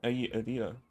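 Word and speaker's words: Dehya: We see Yula and Kale, and I forgot how to pronounce her name. The keeper of this realm. Adia.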